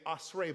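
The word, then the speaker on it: אשרי: The word that's translated into makarios is our other word for blessing, asher, which could also be pronounced, once it's conjugated in what we'll look at today, asrei, but none of that's really that important.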